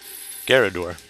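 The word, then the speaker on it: Garrador: feel like I'm saying it wrong the geroder garador it is a gyarador garador yes and of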